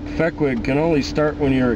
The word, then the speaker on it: Fehquig: then you know, it sort of morphed into Fehquig, and I just like the sound of it.